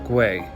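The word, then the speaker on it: Güell: It's pronounced Guay. So when you're going to this place, Park Guay, you can also find Anthony Gaudy's Museum in the middle of the park.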